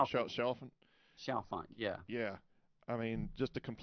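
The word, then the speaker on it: Chalfant: How do you pronounce his last name? Shalfant, Shelfin. Shalfant, yeah.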